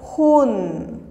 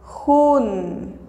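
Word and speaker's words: jun: La pronunciación es Hun. Hun.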